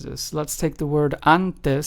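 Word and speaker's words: antes: it is pronounced as anes and not and or and right it's pronounced anes so as you can hear the letter A has that kind of full voiced mouth sound then we have the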